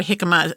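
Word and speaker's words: jicama: for something crunchy so try hikma it's spelled j i CA ma a but great healthy snack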